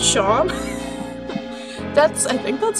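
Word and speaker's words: Seam: you know it's spelled like C but it's pronounced Shawn that's I think let's say this person's talking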